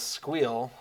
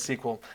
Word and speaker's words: SQL: could see that um I've known people to pronounce SQL as squeal which never never seemed quite right to me El says I ALS always grew up with sat says I hear it more commonly as sequel yeah SQL yeah definitely